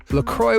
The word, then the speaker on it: LaCroix: LaCroix was created to appeal to a different crowd, marketing itself as an all-occasion beverage that was more approachable and down-to-earth. Its name, pronounced like St. Croix River, that forms most of